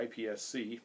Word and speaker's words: IPSC: international practical shooting Confederation or ipsc iPic for you folks that prefer that pronunciation um the way you